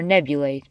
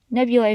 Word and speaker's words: nebulae: we call nebulas or nebulae either pronunciation is acceptable nebulous follows the rules of the English language nebulae follows the Latin rules now you may be